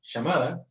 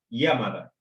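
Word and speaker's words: 山田: las letras romanas, y si ven una Y, no es una ya, es como un yei del inglés, así que esta persona no se llama llamada, se llama Yamada.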